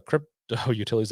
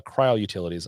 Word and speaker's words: CryoUtilities: Uh, Spencer, the crypto utilities. I downloaded it and I have no It's Cryo. I know I said it wrong. Uh, cryoutilities. I downloaded and I have no experience with tools like that.